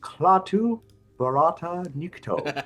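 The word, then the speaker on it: Klaatu barada nikto: I was like, "Yes, it's pronounced Clatu Barata Nikto." Platu Barata Nikto. Got it. Yes, that's close enough. Clatu Barata Nikto.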